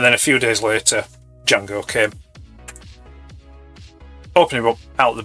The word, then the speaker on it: Jango: That's Django with a silent D. So silent he doesn't have one.